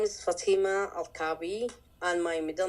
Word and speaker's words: Al-Kaabi: How do you pronounce her last name, which I could not even do? Fatima Al-Kaabi. Fatima Al-Kaabi, right? Ah, there you go. There we go. Fatima Al-Kaabi, and she is the subject of Left Behind